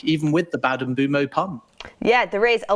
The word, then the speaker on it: Mbeumo: Brian Mbeumo. It's bad, that, isn't it? That is also the correct pronunciation, though.